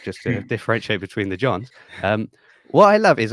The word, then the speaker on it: Jean: was kicking myself because I should know it's it's it's John because it's like Jean Luke Bard should have just got